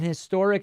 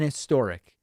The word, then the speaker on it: historic: An is used before the vowel sound, not just before a vowel letter. Since David doesn't use the H sound, instead using the pronunciation that drops it, he is right to use an. The truth is, I'm not saying historic. I'm just kind of blending it together. An historic.